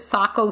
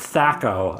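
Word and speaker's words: taco: Is it Sacco Thursday? No, it is not. All right, just checking. That's pronounced Thaco, I think.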